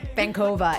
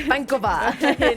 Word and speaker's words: Vankova: You guys, we all pronounce it Vankova, and it's not. It's Vankova.